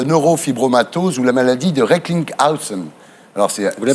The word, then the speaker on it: Recklinghausen: Votre patient, Jérôme Hamon, donc, que nous recevrons, est atteint de neurofibromatose ou la maladie de Recklinghausen. Alors vous le prononcez bien, c'est bien.